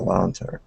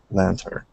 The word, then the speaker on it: lantern: very good very good let's uh try that n at the end of lantern one more time make sure to pronounce that Lantern Lantern good good yeah